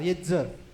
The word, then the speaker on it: Yetzer: तो मैं इसकी स्पेलिंग बताता हूँ. Y-E-T-Z-E-R, येत्ज़र.